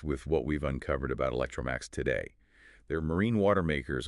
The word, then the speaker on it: Electromaax: It's pronounced Electromaax.